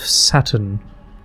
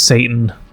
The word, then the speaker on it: satin: It's like a soft bit of satin across my skin. Is this Satan? Trying to remember how to pronounce this goddamn word. Satin. Okay, I was right. Satin. Some people might mispronounce it as Satan, you know, I wouldn't blame them.